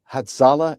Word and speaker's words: Hatzolah: We're going to focus on this unprovoked burning of If I get the pronunciation wrong, forgive me. Hatzolah ambulances in London.